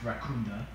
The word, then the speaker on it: Rakunda: It's pronounced Rakunda. What? Rakunda forever.